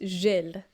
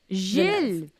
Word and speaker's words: Gilles: It's a soft G, so it's Gilles. Gilles Villeneuve.